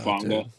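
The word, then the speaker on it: Hufanga: The safety, Ufunga or something like that. Ufanga.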